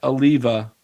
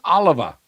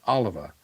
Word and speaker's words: Oliva: way, guys, it's not Oliva. I first said it wrong. I heard it and then you correct it. It's Oliva. It's Oliva. It's not Oliva. It looks like Oliva, but um it's Oliva.